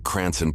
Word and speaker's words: Cranston: Department in Rhode Island they meant to type Cranston but Florida officials may have misunderstood a road Islander pronouncing cranon paully Department in their famed accent the report details that